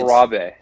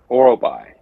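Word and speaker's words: Orolbai: have it, I would like to hear your pronunciation of the fighter he has taken up. Miktybek Orobai. Orobe. Close. So it's Orabe. It's Muktebek Orobai.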